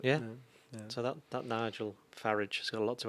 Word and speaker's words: Farage: a milkshake out more milkshakes at farage please farage come on pronounce his name correctly that's that's how it's